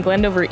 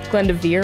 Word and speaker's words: Glendoveer: beautiful conditions we're playing glendover East which is generally the preferred course out here uh Glendoveer I guess if you want to say it correctly another 9 000 Plus